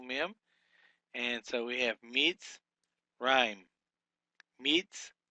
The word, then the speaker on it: Mitzrayim: Number 17 here we have is Mitzrayim. We would break this syllable as a mem hirik with a sade